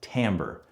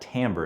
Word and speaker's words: timbre: Okay, so the T, the first T in THRIMPS is timbre. You get that timbre, it rhymes with amber, that's how we pronounce it.